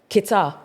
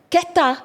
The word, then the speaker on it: Keta: I'll be like, oh, Kita. They'll be, huh? Kita. That's not how you say it. And I didn't know. Keta.